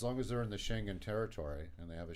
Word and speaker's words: Schengen: Schengen. Yeah, that thing. Not Shanghai, Schengen.